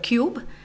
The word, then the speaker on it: QUBE: have our own product called cube which is q.u.b.e that's right oh that's right spelt with a cube and we are responsible